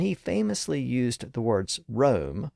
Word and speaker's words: Rome: enough for one man but the pun gets lost on a modern audience since we've shifted the pronunciation of Rome back to its original pronunciation now so far we've